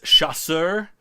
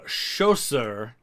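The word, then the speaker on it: chasseur: the colonel dreon video is because I kept mispronouncing the French word for light Infantry it's chasser as you see here Schuster is like their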